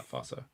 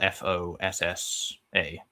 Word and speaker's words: fossa: Um F O, yeah, fossa. Yeah, it's spelled f o s s a, but it's in Malagasy it's pronounced fossa.